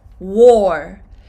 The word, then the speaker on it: wore: Wear – wore, wore similar pronunciation is “war” – World War One.